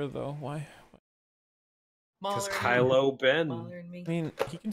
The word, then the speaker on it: Kylo: a while ago where we accidentally uh mispronounced kylo Ben as Kyle Ben those RS him Kyle